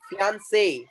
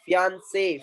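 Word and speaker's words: fiancé: the words that are ending with acute accent, and the sound will be something different. For example, cafe, cafe, Nestle, Nestle. People say Lakme, galat. That's Lakme. Fiance, fiance, fiance.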